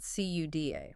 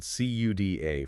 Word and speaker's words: CUDA: Back in the 2000s, long before AI was a buzzword, Nvidia introduced a software platform called CUDA. That's spelled CUDA for anyone taking notes.